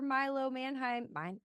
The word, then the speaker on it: Milo Manheim: And then also, I don't know, my love for Milo Manheim.